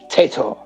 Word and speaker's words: Taito: Everybody's corrected me on it, and I've not heard another single person say it another way. It's Teto. Teto. Teto.